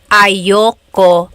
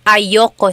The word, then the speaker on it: ayoko: Usually it's pronounced ayoko siya. So if you want to sound a little bit more natural, you put everything together, ayoko siya.